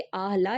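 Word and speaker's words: الله: कि हम जानेंगे कि अल्लाह जो हम बोलते हैं आह ला बेसिकली वो प्रोनाउंस इस तरीके से होता है कि अहला जिसको अल्लाह बोलते हैं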